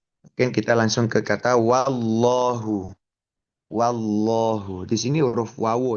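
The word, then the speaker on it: وَاللّٰهُ: Ee lagi bahwa ee meskipun lafaz jelalahnya itu memang tebal tetapi huruf wau wu fathahnya sendiri ketika ketatal diucapkan itu tidak ikut-ikutan tebal. Justru wa masih wa wallahu wallahu dan ya ee kecenderungan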